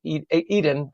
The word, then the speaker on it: Edan: In a moment of joy and relief, hundreds gathered in Tenafly to celebrate the release of Eden Alexander, or Adan, depending on your pronunciation.